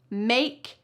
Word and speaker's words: make: So, for words like this, hope, like, make, that e at the end is silent. Don't you dare say it.